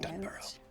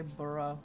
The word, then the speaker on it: Dunbro: And Dunbro. Dunbro. I was gonna say burrow. Yeah. Well, there's no U between the B and the R. It's like Edinburgh.